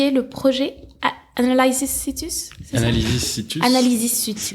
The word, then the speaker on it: Analysis Situs: Analysis Situs. Analysis Situs. Du latin. Il faut le prononcer à la latine.